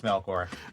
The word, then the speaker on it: Melkor: begins with an l and rhymes with feanor what and and of course it's melor rhymes with f the last part oh man yeah uh